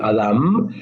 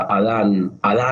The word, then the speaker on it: Adam: En el hebreo original se pronuncia con M de mamá al final, Adam. Es como que si vos le decías a Adán, no se daba vuelta